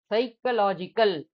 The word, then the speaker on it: psychological: PSYCHOLOGICAL, சைக்கலாஜிக்கல். சைக்கலாஜிக்கல்னு சொல்றீங்க, எஸ் தானே pronounce பண்ணீங்க, பிய போடுறீங்க அப்படின்னா சுனாமிக்கு என்ன பண்ணமோ அதே மாதிரிதான் அங்க சைலண்ட்.